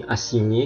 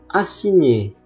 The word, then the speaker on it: assigné: Sekarang GN, huruf GN dibaca nye dalam bahasa Indonesia. Contoh, assigné, menugaskan, cagnotte, jackpot.